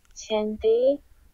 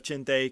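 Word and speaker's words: chinthe: According to Google Translate, the word is pronounced chinthay, which I've tried to learn to say properly, and I have failed miserably.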